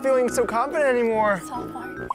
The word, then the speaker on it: Svalbard: Did you pronounce it right? Well, I looked it up on Google Translate before I said it. Svalbard. Svalbard.